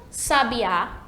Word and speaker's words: sabiá: se confunde um pouco mas todas elas têm sílaba tônica diferente então acho que sabia sabiá sabia assobiar então ver só a grafia bastante